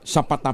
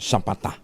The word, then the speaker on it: Zapata: Ayun, naimbag na bigat, Romy, Jose Gina, Zapata pala ang pronunciation nun, Zapata.